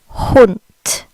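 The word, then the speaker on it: Hund: is similar to the English word hunt they pronounce it hunt hunt hunt you'll notice the D makes a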